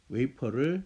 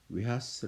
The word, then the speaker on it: 웨이퍼: 즉 그걸 삼성이 연락하세요 일본애들이 발음을 정말 못해 웨이퍼를 발음을 못 했던가요 그래서 일본 말로 된 이 말을 그대로 하려다가 쓰게 되고 우리는 아무 생각도 없이 수십 년 동안 외 하 스 라고 부르면서 그가 저를 먹고 있고